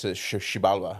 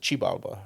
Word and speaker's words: Xibalba: it's a it's a it's a Mayan word so like the Mayan says Shala yeah yeah and if if you're if you speak Nawa they would pronounce it chibaba yeah but if you're American it's Zaba so you know just